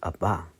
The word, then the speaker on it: Abba: Pero un día escuché una predicación del pastor Alex San Pedro y él dice Abba. Y me hizo sentido porque justamente el hebreo se pronuncia hacia adelante, casi las últimas, vamos a decir, ¿cómo se llaman en español?